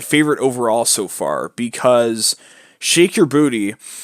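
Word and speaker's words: Sheik Yerbouti: Particularly, Shake Your Booty is my favorite overall so far, because Shake Your Booty, which is spelled not exactly as it sounds, it's spelled SHEIK space YERBOUTI, is an interesting beast,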